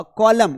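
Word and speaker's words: column: तो जब भी दोनों साथ में रहेंगे तो फिर हम एन को प्रोनाउंस नहीं करेंगे। अ कॉलम कॉलम में स्तंभ होता है।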